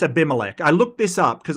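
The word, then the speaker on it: Abimelech: It's Aimilec. I looked this up because I couldn't pronounce it.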